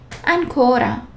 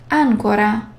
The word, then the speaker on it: ancora: The stress of the letters can change the meaning sometimes, like ancora, ancora.